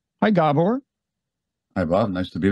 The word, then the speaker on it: Gabor: Actually, people most often mispronounce my first name. They call it Gabor rather than Gabor.